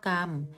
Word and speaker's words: กรรม: สะกด ของ คำ นั้น การ อ่าน คำ รอ หัน มี ตัว สะกด ออก เสียง สระ อะ และ เสียง ตัว สะกด ตาม มาตรา นั้น เช่น คำ ว่า พัก